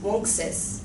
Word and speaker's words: Uncas: What I said was that Uncas' name is correctly pronounced Wonksis, which means fox in English.